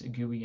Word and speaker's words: GUI: graphical user interface uh gui i pronounce gooey as do a lot of people i think um daniel